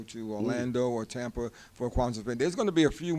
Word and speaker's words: Kwanzaa: first fruits and it's it's a Swahili word meaning first fruits it's also the name